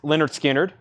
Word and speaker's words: Lynyrd Skynyrd: that's 2lp white vinyl Lynyrd Skynyrd pronounced Leonard Skynyrd analog Productions 2lp 69.99